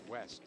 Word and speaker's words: Vest: It's actually Vest pronounced West.